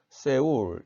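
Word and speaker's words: Séoul: 프랑스어에 따르면 이 OU가 우를 나타냅니다. 그리고 이 이는 에를 나타내는 거죠. 오늘날 프랑스어에서는 서울을 세울 이렇게 발음합니다.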